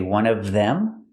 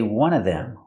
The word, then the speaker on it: one of them: three different pronunciations here I can say one of them pronounce everything one of them or I can eliminate the V sound in of and I can say one of them one of them was